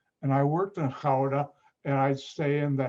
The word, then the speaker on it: Gouda: but sound pronounced gouda dutch pronounced their g differently because i know hebrew